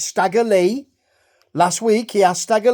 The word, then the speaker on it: Stagger Lee: like junk young dog stagger Le rhymes with JY now we see highlights